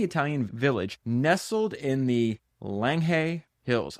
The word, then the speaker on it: Langhe: village nestled in the Langhe hills. I promise you I went and looked up how to pronounce these words. I still can't get it. I think it's Langhe hills.